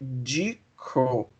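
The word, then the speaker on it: Ducrot: esse aí eh que nós grafamos do crot né mas a pronúncia é decro o o decro ele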